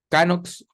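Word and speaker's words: Knox: ya ahí está aquí lo tenía anotado John canox o no se escribe John como escribimos John y canox una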